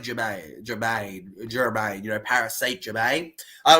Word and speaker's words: Germain: Either way, it's pronounced like Jermaine.